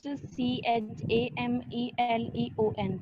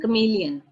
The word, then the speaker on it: chameleon: हाँ जी ma'am, how डू we pronounce CHAMELEON? बेटे chameleon, chameleon, chameleon, chameleon कक्के नाल बोलना है, ठीक है, chameleon।